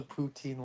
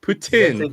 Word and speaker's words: poutine: Did you remember what did you forget with the poutine last time?